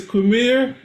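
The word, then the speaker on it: Qimir: It's Quereme, but also it's too it's like they took the word queer and they put some other letters in there.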